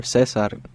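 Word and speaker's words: César: too my name is Caesar or Cesar as how you say in Spanish and I play the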